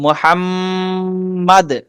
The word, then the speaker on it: محمد: আমরা বলেছিলাম মুহাম্মদ কিভাবে উচ্চারণ করব। প্রথম কথা হলো ব্যাকরণের দৃষ্টিকোণ থেকে এই মিমে গুণনা করব, মুহাম্মাদ।